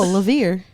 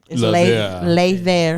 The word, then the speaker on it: Levere: up right solarius no levere levere levere you ain't never heard that okay sounds French but if the French pronunciation lay there lay there lay there lay